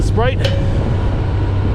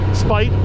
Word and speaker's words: Spite: so welcome to motovlogging Sprite spite not Sprite there's no art at I don't think it's